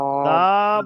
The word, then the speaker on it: دال: প্রথমে বলে দাল, দিলাম যে দাল বলে চেপে ধরবেন না। দাল বলে যান চেপে ধরছেন, জিভের আগাটা দেখেন উপরে দাঁতের ওই উপরে মাড়ির সঙ্গে চেপে যাচ্ছে, কিন্তু চাপলে হবে না। দাল পুরো মুখ খোলা থাকবে, দাল।